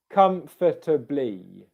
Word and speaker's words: comfortably: blee blee blee comf comfortably comfortably now what you might hear is the the first two syllables there comfort kind of becoming one so comfortably if i